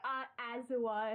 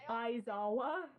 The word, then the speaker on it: Aizawa: Yeah, you say Azawa, and it's like it's Aizawa.